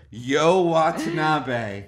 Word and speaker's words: You Watanabe: Yo Watanabe. And it's spelled Y-O-U.